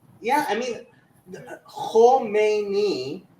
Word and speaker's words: Khomeini: yeah, Khomeini, Khamenei, like they're completely different names, but people confuse the two all the time. This is the difference between like having a short and long vowel stuff in it, right?